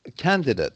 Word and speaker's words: candidate: right yes legitimate yes so whenever you see uh ate at the end and it's either a noun or an adjective then it's ut okay yes and when